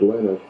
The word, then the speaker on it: Linus: Do you think that Linus Torvalds took the Finnish pronunciation of his name, which is Linus, and added the X?